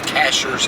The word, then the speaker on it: Cashiers: Some people say Cashiers. I'm going to pronounce it the way it's spelled. Cashiers, North Carolina.